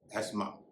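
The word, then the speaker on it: asthma: इसे आमत तौर पर लोग अस्थमा कहते हैं। लेकिन इस शब्द में टीएच का उच्चारण नहीं होता। इसे कहेंगे एस्मा या एजमा।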